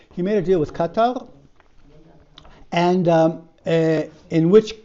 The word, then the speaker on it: Qatar: It's spelled with a Q. In Arabic, it's a katar. Okay. So, he made a deal with Qatar. I say this how the Europeans say it.